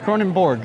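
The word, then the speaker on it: Kronenbourg: like the appropriate pronunciation something like Cronin Borg Cronin Borg Cronin yes it's Cronin Borg there we go see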